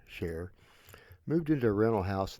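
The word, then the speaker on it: Char: John and Sher spelled c h a r but pronounced like the singer Sher moved into a rental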